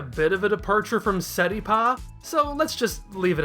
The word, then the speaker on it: Seripa: Take parsley and convert it into its Japanese approximation, which is pasari. Take the first sound and flick it over to the end, and you have Seripa.